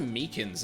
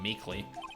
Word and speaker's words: Meekins: Actually, Officer Meekins at the detention center told us. Oh, that poor little doggy. Poor guy. I kept getting his name wrong, calling him Meekly.